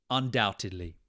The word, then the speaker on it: undoubtedly: to pronounce this word undoubtedly undoubtedly that silent be in the middle can really throw us off undoubtedly unou doubt just remove the B it's not there itly undoubtedly I undoubtedly